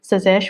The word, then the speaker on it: Tsazesh: Sazesh, where the T is silent.